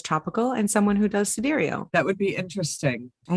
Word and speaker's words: sidereal: Sidereal. It's spelled like side real.